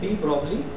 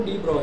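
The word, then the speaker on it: de Broglie: तो डी ब्रॉगली एक scientist था, हम जिस तरह से इंग्लिश पढ़ते हैं हमको दिखाई दे रहा है ये डी ब्रॉगली, ठीक है। तो ये लेकिन इसको जो प्रोनाउंसिएशन है वो डी ब्रॉय है, इसको डी ब्रॉय वेवलेंथ बोलते हैं।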